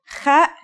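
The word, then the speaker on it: خاء: Kha is a sound some people make when they laugh. It's also similar to the sound people make when they snore.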